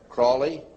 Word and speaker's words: Crowley: learned about with aleister crowley he likes to be have his name pronounced crowley to rhyme with holy and the satanist today